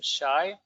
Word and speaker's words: Shay: Okay, that's how you pronounce his name, Shay.